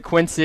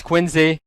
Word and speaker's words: Quincy: Like, I pronounce it Quincy. Apparently it's Quincy.